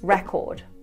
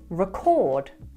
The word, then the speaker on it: record: In its noun form, we pronounce it record, record. However, in its verb form, we pronounce it record, record.